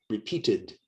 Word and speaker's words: repeated: In repeated, the ED sounds like id, repeated. The E is not silent.